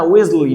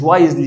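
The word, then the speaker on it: wisely: طيب الحكمة نفسها اسمها ويزلي، مش وايزلي، اسمها ويزلي.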